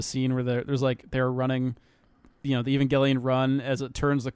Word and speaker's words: Evangelion: of thing, and so people think it's Evangelion. But in the dub, in every single version of the dub, and even in the show, they pronounce it Evangelion. Right. So that's the correct way to say it. If you say Evangelion, you're a slob.